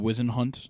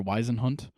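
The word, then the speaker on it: Whisenhunt: Eldridge is fantastic Carson wizen hunt I believe is how you say or weisen hunt um yeah it is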